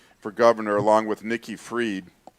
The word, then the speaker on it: Fried: running against DeSantis for governor along with Nikki's Fried. It's spelled F-R-I-E.